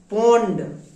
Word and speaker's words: pond: Next POND, ফন্ড না পন্ড। পি এর জন্য প হয়, পি এর জন্য ফ হয় না সালমান। এখানে তুমি ভুল করবা না।